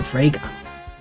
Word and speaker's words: Frigga: You brought Marinath into Frigga Manor with full knowledge that he could and will kill William Frigga. That rhymes with Sega.